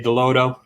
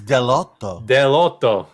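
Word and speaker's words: Dell'Otto: lotto or uh or dave likes to say delodo we love you dave we love you dave maybe dave's bringing out his inner italian because it's delotto shout out to dave for trying to say it right yeah venom number nine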